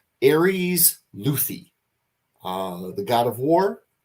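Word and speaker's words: Lüthi: place ooh for people who want me to pronounce the name Aries luthi uh the God of War followed by L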